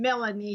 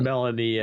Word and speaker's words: Melania: And this is the very first time that people actually pronounce it correctly, because many years ago, she became Melanie here because they couldn't pronounce her correctly. It was Melania Yeah.